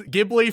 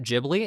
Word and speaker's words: Ghibli: Like I said, most people have a favorite Ghibli movie. Although some people will pronounce it Ghibli as well, which is fine. I just prefer Ghibli because I think of it as a hard G.